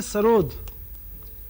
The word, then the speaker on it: सरोद: सरोद जो है ये पर्शियन वर्ड है, पर्शियन शब्द है। इसका असली उच्चारण है, असली प्रोनाउंसिएशन है सरूद।